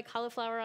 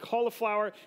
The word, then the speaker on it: Cahlafour: So everybody always thinks it's like the veggie. You pronounce it like the veggie, I guess. Yeah. But so my real name's, but spelled like is in cahlafour.